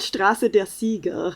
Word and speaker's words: Straße der Sieger: It's called Straße der Sieger. Oh, I thought I did the German wrong. I'm like, what? This seems like a simple pronunciation. Champions is English, so it's Straße der Sieger.